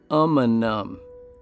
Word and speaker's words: Umunhum: a few of you didn't quite know how to pronounce the name of this m before you traveled here it's umum Mount amanam contains the root word